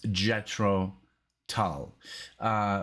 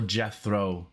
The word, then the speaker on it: Jethro Tull: but i know it's jetro tal or jethro because i looked it up it's like jet and then throw they literally say throw and then tell so we're gonna do